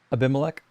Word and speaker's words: Abimelech: But let me ask you this: could have how do you pronounce his name? What are you saying? Abimelech.